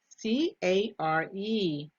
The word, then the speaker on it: care: at the first board c-a-r-e a roy and remember letter e is silent care care has a long vowel sound let's take a look